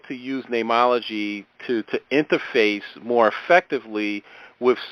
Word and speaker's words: Neimology: Is it Neimology science? Yeah, you say it perfectly. It's just spelled funny. It's N-I-M.